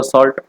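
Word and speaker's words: salt: सॉल्ट या साल्ट कुछ भी कह सकते हैं उसको, कोई फर्क नहीं पड़ता, सॉल्ट ही है एक्चुअल प्रोनाउंसिएशन।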